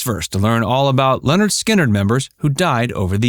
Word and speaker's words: Lynyrd Skynyrd: band's first two albums pronounced Leonard Skynyrd and second helping which